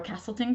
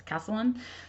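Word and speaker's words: Castellon: I always say her name wrong because I want to call her Castleton because I want to switch the words, but that's not it. It's Castlellon.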